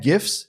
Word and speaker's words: GIF: Yes, that's a hard G. You're getting it here first. This is my 2 cents. GIF, hard G. It's not GIFs and it's not Joogle. It's GIFs and Google.